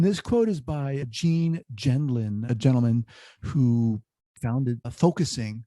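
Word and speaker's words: Gendlin: me going and this quote is by gene genlin a gentleman who founded focusing that treatment modality and his name is spelled g-e-n-e last name g-e-n-d-l-i-n pronounced gentleman so he says the essence of working with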